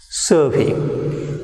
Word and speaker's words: survey: Now look at the word survey. So in verb, the stress is on first syllable, that is sir. And when it is to be used as a noun, the stress is on second syllable, that is for, survey.